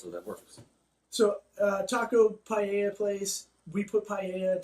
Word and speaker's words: paella: The double L's aren't pronounced like L's, so that works. So, taco paella place.